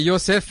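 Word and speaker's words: יוסף: c'est la main mais le nom joseph prononcer yossef en hébreu cette sorte me dit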